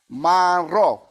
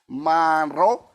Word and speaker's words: manro: There are different ways we pronounce this across the dialects. The way we say it is manro, right? I'm going to say it one more time, manro, and then I'm going